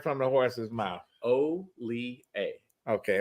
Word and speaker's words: Hollier: from the horse's mouth O A okay O A okay yep H is silent i e r how often how often